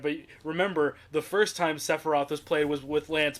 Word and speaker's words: Sephiroth: He pronounces it Sephiroth, and I don't. It's Sephiroth. And I have to mention this because Love that this coat.